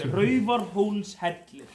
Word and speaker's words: Raufarhólshellir: It's Raufarhólshellir. We have to be able to pronounce this though.